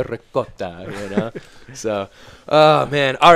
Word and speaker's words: ricotta: He's like, don't say ricotta, say ricotta. Who did? Caden told me. Okay. I was like, I could see Nick telling that. Oh no. Say ricotta.